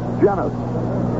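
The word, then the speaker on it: Llenas: here's winston winston jennifer saw with 2l alley is pronounced genus here's a pitch foul back one strike and nothing janice pretty good hitter uses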